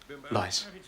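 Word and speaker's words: Leiss: L-E-I-S-S. Lice. Rhymes with spice, but twice as nice.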